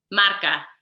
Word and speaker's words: marca: right mark marketing consulting ah we say it again marca okay cool maca means